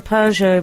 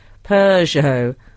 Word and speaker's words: Peugeot: On the Peugeot pronunciation question, where does the R come from that most people squeeze in? Peugeot.